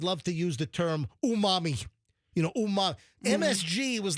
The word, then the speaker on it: umami: It's umami.